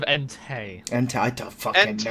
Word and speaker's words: Entei: It's funny because he says, look, guys, it's Entai. Entei. Instead of Entei.